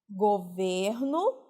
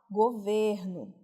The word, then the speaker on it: governo: No substantivo, o ele é fechado, governo. E quando essa palavra é verbo, o ele é aberto, tem articulação aberta.